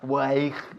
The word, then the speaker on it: weigh: Sí, se escribe weigh, se escribe de una forma muy rara, weigh, pero se pronuncia weigh, igual que way, como camino, W-A-Y. Esto es weigh, W-E-I-G-H, pesar.